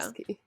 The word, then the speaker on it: Yasuke: Yeah, Yasuke. that's how they pronounce it on that show.